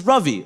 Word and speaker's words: Ravi: My name is Ravi. Like ravioli.